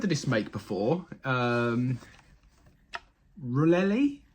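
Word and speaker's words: Rollei: this make before um rullelli is that how you pronounce it r o l l e i really is how I'd say um it's a really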